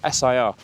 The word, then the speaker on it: Sir: It's actually spelled like Sir, S-I-R, but it's Sir in Welsh.